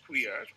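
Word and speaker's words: quer: you know it it it is derived from the german term also pronounced queer or and that is spelled q u e r not the q u double e r um and this term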